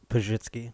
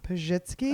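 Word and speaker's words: Pazsitzky: like, I never thought there'd be a zhuzh sound in it. It's a S and a Z together.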